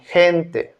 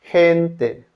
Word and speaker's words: gente: Letter G is pronounced as a J in gente. Gente.